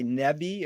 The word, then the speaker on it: Neve: And tell me just briefly, because isn't one of your heroes the guy Neve, or how do you pronounce his name?